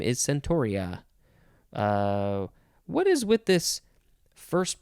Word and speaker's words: centaur: our last word is centauri or is it century centaur it's a centaur i don't know how